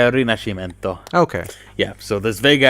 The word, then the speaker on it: Rinascimento: It's Italian. I'm going to get killed for not pronouncing this right. By the Italian mob. It's Rinascimento.